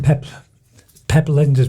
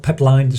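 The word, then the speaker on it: Pep Lijnders: it's I've been reading pep Linda's book peplines sorry uh I've learned how to pronounce it correctly now um I've been reading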